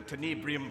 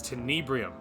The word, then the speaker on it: Tenebrium: tanibrium and be gone ah tenebrium i never remember how to say it it's tenebrium when the job was